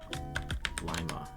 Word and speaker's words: Lima: Ohio City whose name is pronounced with a long I. Lima.